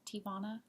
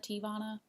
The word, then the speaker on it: Teavana: I think that's how you say it, Teavana, like Nirvana, Teavana. Anyway, so I ordered some tea from Teavana, and they sent me this sample, and it was amazing.